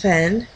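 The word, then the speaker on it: Hven: island, the island of, spelled H-V-E-N, probably Ven, but I like to pronounce it as heaven because he's studying the heavens and it'll help you remember that way.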